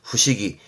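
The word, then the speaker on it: 不思議: 사이단 말을 쓰게 되죠 발음은 후식이 요게 후식입니다 의자가 했던 것 입니다만은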